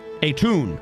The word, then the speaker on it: Aton: Atun. Spelled Aton. The A is pronounced like a U. So Atun.